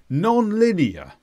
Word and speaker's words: non-linear: is an adjective and we actually stress the first two sounds it's an unusual word non-linear non-linear this means not in